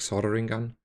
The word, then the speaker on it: soldering: he said like only the the L is is is a quiet one so he said soldering gun um so he pronounced it more like soldering gun so anyway that's soldering